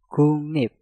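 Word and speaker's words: 국립: Maka giok yang ada di kata guk kita rubah menjadi nyeng dan realnya kita rubah menjadi suara nien. Maka pengucapannya menjadi kungnip, kungnip, kungnip.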